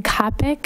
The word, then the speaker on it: Copic: my name is Copic it rhymes with the topic doesn't look like it and I live at